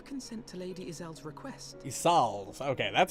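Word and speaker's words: Ysayle: territory would you consent to Lady isel's request isal okay that's how that's pronounced does thou imagine thyself equal to the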